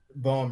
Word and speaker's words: Boehm: Boehm, rhymes with poem.